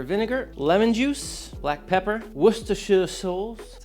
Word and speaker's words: Worcestershire: Followed up with apple cider vinegar, lemon juice, black pepper, Worcestershire sauce, that's how you say it.